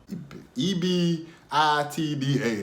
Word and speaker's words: EBITDA: EBITDA, that's how you say it.